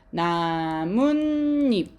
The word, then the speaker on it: 나뭇잎: 자, 그때 발음하면 니은 소리가 새로 생겨야 된대. 한번 그런지 볼게요. 발음해 보세요. 시작. 나뭇잎 이렇게 되죠. 그쵸? 자, 그러면 여러분 원래는 없었던 니은이 두 개가 생겼네.